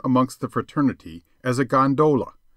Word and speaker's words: gondola: the fraternity as a gondola with the second syllable emphasized and pronounced long but to return I